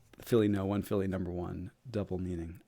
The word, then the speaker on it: Phillyno1: When you say your full handle, right, in your mind, do you say Philly1 or Philly number one?